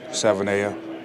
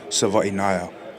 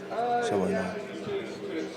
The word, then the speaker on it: Savaiinaea: it from the first four letters, which is Savaiinaea. That's like the most common one I heard. So, but it's actually pronounced Savaiinaea. Savaiinaea.